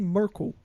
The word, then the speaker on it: Merkle: little bit uh mer it's actually merco lemons like uh like mer you know merco the Angela Merkel is it like this